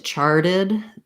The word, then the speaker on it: charted: about it like that because when we get to charted our t can turn to a flap so you want the same stress charted uncharted okay great wonderful questions